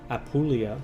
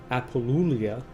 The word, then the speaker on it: Apulia: triple Lana you know until I was corrected yesterday about how to say apulia which I think I was saying appolia I haven't really thought